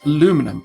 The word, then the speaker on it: aluminum: Yes, aluminum, just like the Americans say it today.